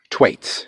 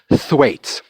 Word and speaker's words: Thwaites: So in Methuen, there's a little market called Thwaites. Now, it's spelled Thwaites, but it's called Thwaites, and it's been there for 1,000,000 years.